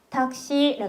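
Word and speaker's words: タクシー: 자, 택시 발음을 여러분 귀엽게 가는 거 아세요? 타크시라고 적고 닥시라고 합니다.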